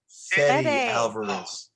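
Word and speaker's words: Fede Álvarez: How do I pronounce his first name? Fede Alvarez.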